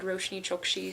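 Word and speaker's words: Roshani Chokshi: say her name because the audio book lady said roshni chopra so I'm hoping that's how you say it this is a book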